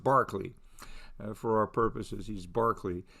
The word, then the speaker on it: Berkeley: Okay, so his name is spelled Berkeley but pronounced Barclay.